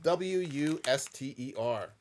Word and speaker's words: Worcester: And it's spelled like you would think Worcester sauce would be spelled. Not like how it's spelled Not on the packaging. Worcestershire or something like that. This is just Wuster.